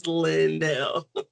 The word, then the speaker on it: Lynelle: So it gives the space so people pronounce it right. Because sometimes people are like line is not line, it's Lindel.